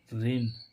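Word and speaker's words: reign: ई आई जी एन रेन रेन रेन मीस क्या होता है शासन देखो यहां पर भी ई आई का उच्चारण क्या निकल रहा है ए ऐसे ही इसमें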